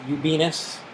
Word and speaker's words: Ubinas: Mr. Tony Ubinas. We call him something else sometimes. It rhymes with Venus.